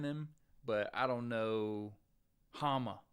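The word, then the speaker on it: Háma: but I don't know Hama his name's Hama I don't know if I can lose anybody lose to anybody that's name rhymes with Kama yeah I got pounced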